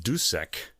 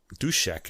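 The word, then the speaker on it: Dušek: winner here is um dusek um dushek i should pronounce it he's czech all right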